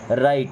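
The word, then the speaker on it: write: अब देखिए इस वर्ड में ना डब्लू साइलेंट होता है। कभी भी याद रखिएगा। आर के पहले अगर डब्ल्यू लगा है ना तो डब्लू साइलेंट होगा। यानी उसे लिखा नहीं जाएगा। सॉरी लिखा जाएगा, पढ़ा नहीं जाएगा।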